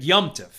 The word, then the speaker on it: Yom Tov: It's Yomtiv, right? It's really Y-O-M-T-O-V, but we just say it fast and it becomes Yomtiv.